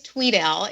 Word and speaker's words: Tweddale: It actually is Tweddale. It's it's spelled phonetically incorrect. So, it is spelled with one e but it's pronounced as if there are two e's.